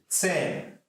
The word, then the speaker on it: zehn: Zehn, zehn. Z is pronounced as z sound, so it is not exactly z or neither ch, so it is z sound.